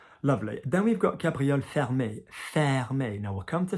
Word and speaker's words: fermé: So enough people have done enough school French, particularly in the UK, to know fermer, la fenêtre, like close the window, but faire, like it's not fair, fermer, all right?